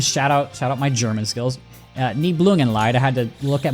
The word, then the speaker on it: Nibelungenlied: Nibelungenlied. That's how you say it. shout out my German skills. Nibelungenlied.